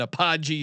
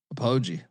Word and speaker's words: Apogee: small home dog in Apache Stadium. Is that how you pronounce it Colobby? Apogee I believe Biff Apoji.